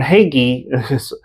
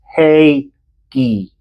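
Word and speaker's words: Hagee: 80s um and John heggy I'm not giving the not by sight news guy a hard time it's just he he's mispronouncing his name it's hey G um so apparently John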